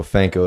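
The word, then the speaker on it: Phanco: for the record purposes my name is fanco that's p-h-a-n-c-o i didn't spell it the first time um where do you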